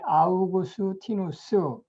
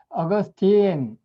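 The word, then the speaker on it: Augustine: 어거스틴 또는 아우구스티누스 한글로 표기를 할 때 이렇게 아우구스티누스 이렇게 이제 그 라틴어식 이름 그대로 표기를 하게 되면 아우구스티누스 또는 아우구스틴 끝에를 그 T-I-S-T-I-N-E 그럼 아우구스틴 이렇게 하든가 또는 그 영어식으로 얘기해서 어거스틴 발음을 어거스틴 우리는 주로 이제 이렇게 부르는데 라틴어식으로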